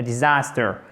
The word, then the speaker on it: disaster: If it rains, it will be a disaster. It will be a disaster. Disaster, ok? Disaster. Accent tonique ici avec un A court.